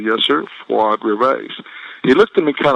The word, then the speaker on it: Fuad Reveiz: Pronounce it for me. So I said, Fuad Reveiz. And he said, one more time, slowly. I said, yes, sir, Fuad Reveiz.